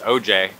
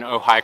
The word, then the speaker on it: Ojai: know on the accent it says oj yeah it doesn't say oh hi but it's pronounced so high just tell you guys yeah facts alright two let's do this yeah we're in ojai california this park is